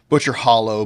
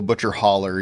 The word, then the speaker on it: Butcher Hollow: And Butcher Hollow, Butcher Holler, you know, depends on how you want to pronounce it, I guess.